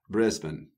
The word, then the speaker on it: Brisbane: I know this is I know this is Brisbane but I'm going to say Brisbane I'll say it the Australian language Brisbane Brisbane Britain Brisbane Brisbane not